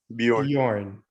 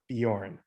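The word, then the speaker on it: Björn: name by the way how do you say you are bjorn bjorn okay oh like the singer right there's a singer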